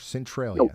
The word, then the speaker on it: Centralia: you mama bear thank you all right C Centralia okay gotcha any fing trampolines today boys if